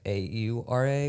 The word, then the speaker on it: aura: the other day because I was saying aura like a u r a which I feel like is you can pronounce it that way and they were like no it's aura.